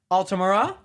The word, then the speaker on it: Altamura: with knight neronia what's good everyone and altamura what's good did i pronounce both your names right yeah yes you